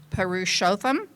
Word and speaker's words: Purushotham: Is it Purushotham? The CEO Did I say that right? Okay, good. Um the CEO of Long Beach Memorial uh Medical Center. You said it right.